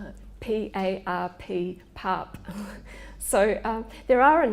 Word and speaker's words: PARP: is targeted to some women's cancer is the PARP inhibitor drug, and there have been a range of trials involving that class of drugs over the last 10 years. How do you spell it? P-A-R-P, PARP.